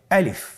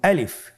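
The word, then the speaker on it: ألف: তাহলে এটাকে কি বলে আলিফ আমাদেরকে বলতে হবে বলুন আলিফ আলিফে কিন্তু কোন টান নেই আপনারা বুঝতে পারতেছেন আমি যখন আলিফ বলছি এর মধ্যে কোন টান হবে না আলিফ আবার বলুন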